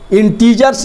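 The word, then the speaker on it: integers: पूर्णांक संख्या इंटीजर्स नहीं, इंटीजर्स इसको पढ़ते हैं, लेकिन मन में इसको याद रखिएगा इंटेगर्स, तो कहियो स्पेलिंग आपका गड़बड़ नहीं होगा। इंटीजर्स ऐसे पढ़ने के लिए पढ़ेंगे। तो इसमें क्या होता है?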